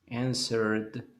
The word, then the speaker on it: answered: Answer termina con una R. Entonces, en el pasado le ponemos la ed, pero esa ed no se va a decir answered. ¿Qué va a hacer? Pronunciar nada más la D.